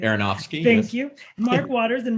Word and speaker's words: Aronofsky: darren aronofsky i don't know if i can't pronounce that right aronofsky thank you mark waters and writer scott silver